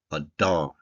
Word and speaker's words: Adar: dollet and a rush sound at the end a do that's how we pronounce it now these months have been moving